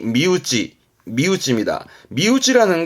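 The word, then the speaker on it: 身内: 단어였고 우지가와 신 내잖아요 몸 아니라고 봅니다 그래서 발음이 미우지 미우지 미우지 아는 건 몸 아니라함은 내 가족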